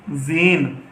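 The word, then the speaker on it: زین: तो हम इसकी हिज्जे करेंगे, किस तरह करेंगे, जे और छोटी ए जी, और नून साकिन जीन। इस तरह से आप पढ़ेंगे इसे। अब ये अगला हरूफ है हमारा अड़े।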